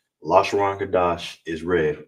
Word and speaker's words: Lashawan: All right, and together it's La Sha Wan.